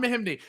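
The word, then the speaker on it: Mahinmi: How do you pronounce it? Jan Mahim. Jan Mahimny, yeah. Jan Mahimny.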